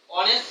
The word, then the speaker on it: honest: He is honest শব্দটা starting letter consonant. Honest শব্দটা starting letter consonant H. Though the word starts with consonant, as the pronunciation of the word as like as O, not ho, এর মতো উচ্চারণ হওয়ার